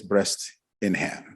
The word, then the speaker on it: Bresnahan: When he called her to introduce himself as her supervisor, he defined or pronounced his name as Dennis Breast in Hand.